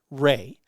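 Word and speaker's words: Rae: But Laura, my ex, wanted her name to be Erica, but we named her middle name is Ray, R-A-E, and then Toby Renee, of course, is Toby Renee.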